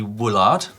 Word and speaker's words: Woolard: This week, the first submission comes from Wesley Woolard. No, you said... I thought Woolard. No, Woolard. Oh, no, you did say Woolard. I did think we've Woolard. just been discussing pronunciation of Woolard.